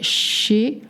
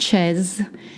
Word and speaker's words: chez: Such as, je vais chez le coiffeur, to the hairdresser. It is spelled C-H-E-Z. It's not chaise. It's not chaise. Whatever, I heard, it's chez. Like short, chez.